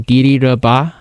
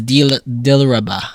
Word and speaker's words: Dilraba: I feel like you didn't even say it right. It's Dilraba. That's in English, yeah. You said Didiraba. That's in Chinese. That's what you say in Chinese.